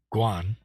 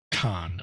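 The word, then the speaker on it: 観: And of course, Guan or Kan of Kanzeon in the Japanese pronunciation has 24 strokes.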